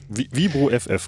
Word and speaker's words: Viborg FF: Ich erinnere mich unter anderem, wie spricht man es aus? Vibor? Vibro FF, genau, ja.